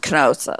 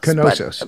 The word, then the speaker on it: Knossos: I think the K is pronounced Knossos. Knossos.